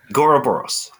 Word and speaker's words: gOuroboros: Go, is that how you pronounce it? gOuroboros. Yes. gOuroboros.